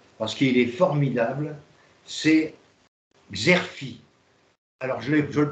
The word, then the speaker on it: Xerfi: C'est le site que vous connaissez tous, parce qu'il est formidable, c'est Xerfi. Alors, je le prononce, X-E-R-F-I.